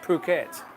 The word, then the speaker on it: Phuket: the island of Phuket pH UK E2 pronounced Phuket uh I love love is